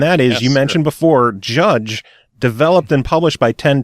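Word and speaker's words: Jydge: title of this game it is it is pronounced judge it is spelled JY d je which makes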